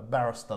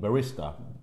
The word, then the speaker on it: barista: A barrister, the guy that makes the coffee behind the thing. Barista. What would you say like that? It's spelled barrister, but barrister. So you go to...